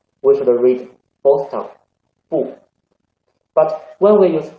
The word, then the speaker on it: 不: See, when we use 不 before first tongue, second tongue, and third tongue, we should read fourth tongue, 不.